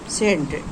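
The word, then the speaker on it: scent: दिखना तो यहां पर सी यानी आपका सी साइलेंट है सेंट एस सी ई एन टी सेंट सेंट यानी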